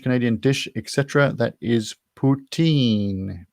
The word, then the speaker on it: poutine: dish etc that is poutine p-o-u-t-i-n-e which you have to be slightly careful when you pronounce it because it's very like a rude word in french but anyway